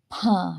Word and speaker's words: ಭ: ಹೊರಹಾಕ್ತಿವಿ ಹೆಚ್ಚಿನ ಉಸಿರನ್ನ ತಗೊಳ್ತೀವಿ ಭಾ ಹೇಳುವಾಗ ಬಾ ಕಡಿಮೆ ಉಸಿರು ಭಾ ಹೆಚ್ಚಿನ ಉಸಿರನ್ನ ತಗೋತೀವಿ ಮ ವನ್ನ ನಾವು ಕಡಿಮೆ ಉಸಿರಿನೊಂದಿಗೆ